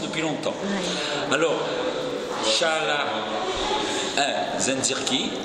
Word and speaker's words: Zencirci: Alors, Shala Zenzirki. Zenzirki, très bien.